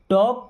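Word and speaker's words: talk: होता है बात करना, यहाँ पे एल साइलेंट है। मैंने आपको एक बात बताया था कि के पहले या एम के पहले कभी भी अगर एल आता है तो एल साइलेंट होता है।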